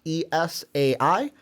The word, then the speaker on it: Esai: by an aha moment say his name right East Side it's Esai Morales mm-hmm and he's known